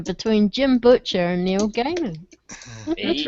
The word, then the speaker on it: Gaiman: Tolkien and Neil Gaiman, and my name is like right under Neil Gaiman's. So, or Gaiman, I don't know how you say it.